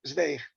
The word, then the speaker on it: Zweig: Y parece ser que es Stefan Zweig, así mismo, casi tal como se escribe, digamos, con la lectura fonética, siempre que pronunciemos esa W, ¿no? como una B prácticamente.